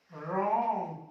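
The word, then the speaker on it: wrong: देखिए आर से पहले डब्ल्यू आया, इसको पढ़ेंगे रिस्ट, रॉन्ग, क्योंकि आर से पहले आ रहा है रॉन्ग।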